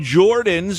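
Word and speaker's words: Joordens: taught by Professor Stephen Jordans with 2 O's. Jordan. You have to say it like that. It's like his name, and it's Jordan in slow motion with those extra O's.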